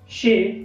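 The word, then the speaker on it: chez: jade is silent later, there are no fixed rule about jade but in these words are jade is silent later, for example शे शे, लासेफेअर लासेफेअर लासेफेअर लासेफेअर, लासेएलर लासेएलर, रॉन्डेव्ह्यू रॉन्डेव्ह्यू।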